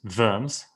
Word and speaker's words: Worms: you're ex-communicated the s of worms verms as it's probably pronounced politically sentences him to